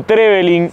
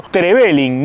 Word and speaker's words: Trevelin: Y estamos en esta ciudad que no se dice ni Trevelin ni Trevelin, sino Trevelin, nombre galés que quiere decir ciudad del molino.